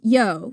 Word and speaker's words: io: And it's pronounced yo, right, Jen? Yep. It's pronounced yo.